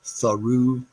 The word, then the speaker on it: through: slender in this context through is pronounced with two syllables thorugh and kindly is pronounced